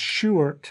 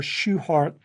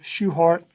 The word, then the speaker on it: Shewhart: Walter Shewhart, even though his name looks like it should be pronounced Shewart, I think the family preferred to have the last name pronounced just as if there was an E in there.